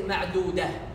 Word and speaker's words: معدودة: If you continue, you pronounce it as a ta. If you stop, you say ma'dudah, ha. If you stop, you pronounce it as ha.